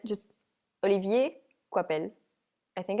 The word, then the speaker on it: Olivier Coipel: Okay, I would say it just Olivier Coipel.